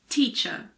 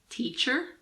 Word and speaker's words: teacher: In American English, it's teacher, but in British English, it's teacher. However, if the following word starts with a vowel sound, we normally pronounce the R in British English as well.